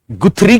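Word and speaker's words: Guthrie: गुथरी के अनुसार, इनको गथरी भी बोलते हैं, वैसे गथरी इनका प्रोनाउंसिएशन होता है, पर गुथरी या गुथरी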